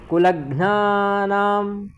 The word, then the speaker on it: कुलघ्नानां: घ आधा है, ना पूरा है।